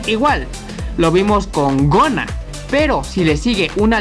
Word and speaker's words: gonna: Otro ejemplo está en la palabra gonna, que significa falda. Hacemos una pequeña pausa por la doble N y se pronuncia como gonna. Bueno, se diría algo así como gonna.